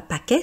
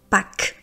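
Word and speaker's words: Pâques: choisi aussi parce que vous voyez qu'il y a un S à la fin, dernière euh comment dire consonne et en fait on dit pas pack mais on dit pack.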